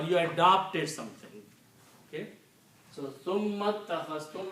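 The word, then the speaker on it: ثُمَّ اتَّخَذْتُمُ: So summa takhastum, when you combine with the summa, then you do not pronounce this alif, it becomes hamzatul wasl.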